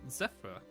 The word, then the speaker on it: Zeph: Next up is Zephyr. Hello. Hello. Yes, I play Zephyral, better known as Zephyr or Zeph, to everyone's confusion because it rhymes with Seth.